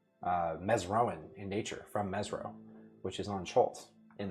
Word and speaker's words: Mezro: messen scholar um they were seeking information about Mezro is the right way to say that.